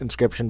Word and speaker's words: Inscryption: Inscription, I think it's pronounced Inscription, but the beginning part is spelled like crypt.